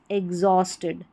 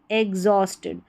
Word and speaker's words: exhausted: अब यहाँ पर एग्जॉस्टेड एक तरीके से ये जो H है ना ये साइलेंट है, एग्जॉस्टेड नहीं बोलेंगे, एग्जॉस्टेड, एग्जॉस्टेड, ये H का उच्चारण यहाँ पर नहीं आ रहा है, एग्जॉस्टेड।